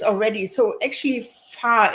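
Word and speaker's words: Vahr: names already so actually far in German the V is pronounced like an f and so I'm not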